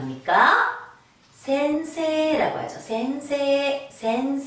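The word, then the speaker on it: 先生: 선생님이라 나라로 많이 들어봤을 건 게 일본놈들이 생이라고 발음은 하지 않죠 발굴할 때 기회를 길게 빼줍니다 쓰기는 이야 우스워 어떻게 안 오니까 센세 라고 아주 센세 에센스 새 잘좀 자리에 이르렀다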